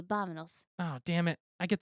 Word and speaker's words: vámonos: Oh, is it pronounced with a B? Well, it's like a soft V. Vámonos.